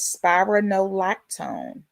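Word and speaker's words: spironolactone: Pronunciation of the generic is spyronolactone.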